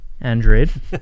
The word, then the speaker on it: Andrade: Andrade? Andrade. Not Brazilian.